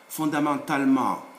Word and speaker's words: fondamentalement: When there is ma, the suffix ma, for the formation of adverbs, if before them there is another E without an accent, don't pronounce it generally speaking. You skip it in the sound. So it's not politiquement, no, it's politiquement, like that. Établissement, fondamentalement, like that.